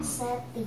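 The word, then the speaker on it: Seth: Seti kalau dalam Seti. bahasa Indonesia. Tapi tulisannya itu Set. S-E-T-H. Set. Jadi kira-kira bacanya ya agak ada desisnya begitu.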